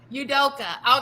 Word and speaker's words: Ime Udoka: Is it Ime Udoka? Udoka.